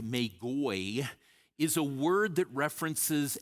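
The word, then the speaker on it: μάγοι: someplace like that is the Greek word that Matthew uses that we pronounce magi, and actually in Greek it's pronounced magoi, is a word that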